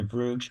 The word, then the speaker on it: Vrooge: I'm going to say Vrooge rhymes with Scrooge, Peter.